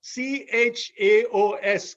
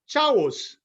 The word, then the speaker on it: chaos: to pronounce them so for the word chaos c h a o s chaos nobody told me how to pronounce it so i would end up using the word as chavos right that's the way it's written that's the